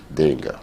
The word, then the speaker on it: D'Engle: The second one is a little challenge. Help me pronounce it. D'Engle. D'Engle. Yes.